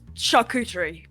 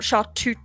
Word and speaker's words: charcuterie: It's charcuterie board. Not chartute.